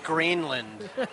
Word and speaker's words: Granlund: It's Greenland. He literally... like Greenbelt. He literally said he does not care, so neither should we.